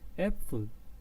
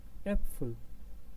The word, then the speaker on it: Äpfel: Ähnlich, I will pronounce them once more. Äpfel and ähnlich, Äpfel and ähnlich, which means apples.